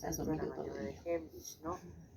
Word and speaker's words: Heimlich: Vamos a ver en este video la maniobra de Heimlich. De Heinlein. Yo dije Heinrich.